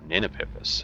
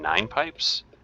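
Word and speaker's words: Ninepipes: and you know so we said you know nina pippas and they're like you mean nine pipes and we're like we like looked at each other like oh my god and yeah that's exactly what it was which also it goes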